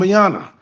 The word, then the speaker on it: Colombiana: film that you were talking about with Zoe Zandala was Kumbala, uh, Oh, Colum, Colombiana. Yes, that's how you pronounce it, Val.